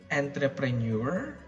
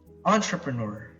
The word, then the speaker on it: entrepreneur: catastrophic thanks entrepreneur entrepreneur now I've heard people say entreprenuer or entrepreneur or entrepreneur when it's and when it has to be entrepreneur entrepreneur now entrepreneur is a